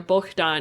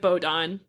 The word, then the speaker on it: Bohdan: But there's another form of that name, which is Bohdan, or Bohdan is what you would say in Ukrainian, but it's spelled Bohdan. So just in English, we would pronounce it Bohdan.